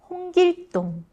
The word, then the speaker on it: 홍길동: For Hong Gil Dong, Did any of you write 홍길동(Hong Gil Ddong)? Not 동(Dong) but ㄸ(Dd)+ㅗ(O)+ㅇ(Ng), which is a tense sound?